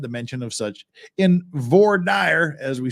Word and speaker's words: voir dire: It's voir dire. It's voir dire. That's just how you pronounce it.